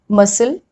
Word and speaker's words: muscle: C is generally not pronounced in the combination SC. So when S and C are put together in a word, we generally pronounce it as S.